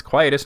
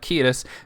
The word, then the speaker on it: Quietus: Remember, it's quietest, not Kus, because we're not Tanya.